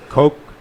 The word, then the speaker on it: Koch: They're like, hey, if you don't think Bernie Sanders' green plan Oh, you say is- Coke? Is that how you Coke, pronounce yeah. it?